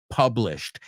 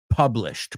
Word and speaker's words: published: Dalloway, one of Virginia Woolf's earliest and best-known novels, was published. Quiero que todos pronunciéis conmigo published, porque he oído published tantas veces que no quiero oírlo, quiero oír published.